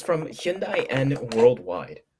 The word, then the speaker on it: Hyundai: of like why but the proper way to say Hyundai is like Sunday that's how they say it Hyundai he means the the